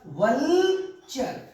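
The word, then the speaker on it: vulture: जैसे VU और L मैंने लिखा है, यू साइलेंट रहता है, यू नो इसका साउंड नहीं होता है, तो वल बोलेंगे वल, और मैंने इसमें TURE जोड़ दिया तो हो गया वल्चर।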